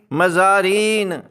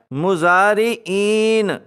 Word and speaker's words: مزارعین: مزارعین ہوتے ہیں، حالانکہ اس کا درست تلفظ ہے مزارعین۔ ایسے تمام الفاظ جو